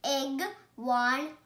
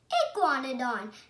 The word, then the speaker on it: Iguanodon: This dinosaur is a iguanodon. I'm going to tell you how to pronounce it. Iguanodon. Iguanodon.